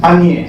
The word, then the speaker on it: unier: Y lo interesante es esto, que ese an, Lacan crea un neologismo y dice unier, que se lee en francés anier, se escribe U-N-I-E-R, es una condensación de an y de nier, uno que niega.